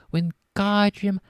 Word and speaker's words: Wingardium: "It's Wingardium Leviosa. Make the gar nice and long."